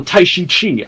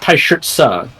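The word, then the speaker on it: Taishi Ci: game they say, oh, Taishi Chi, I'm Taishi Chi. His name's actually pronounced Taishitsa, which then in 7 they do pronounce correctly, and they pronounce more names correctly over time.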